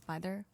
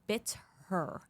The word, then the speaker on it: Bither: pull up the dorsis byther photos please Doris bther so it's her last name is spelled bit her b i t h e r Doris bit her ghost